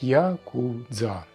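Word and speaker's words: ヤクザ: даёт ноль ноль очков к такой комбинации приводят карты 8 93 что в игре оч Каб произносится как Якудза но Прим здесь вообще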